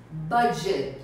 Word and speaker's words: budget: Vocês veem que a escrita é quase igual, mas a pronúncia é diferente. A gente diz budget.